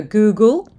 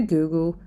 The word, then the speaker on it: googol: few zeros here and go to the next number which is called the Google the this here has got 100 zeros it's also the name that inspired Google and you'll notice that it's spelled a little differently thanks to the company's founder who accidentally misspelled the name he chose the name